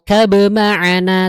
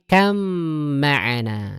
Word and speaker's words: اركب معنا: Tuh ada ba ketemu mim tasdid. Jadi bacanya bukan ya bunayr kab ma'ana tapi kam ma'ana.